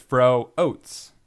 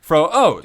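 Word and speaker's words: Froats: Speaking of cheapness, uh Steven Fro um his name his name is spelled F R O A TS. And he made sure to tell me that it's fro oats. Okay. Fro even fro oats.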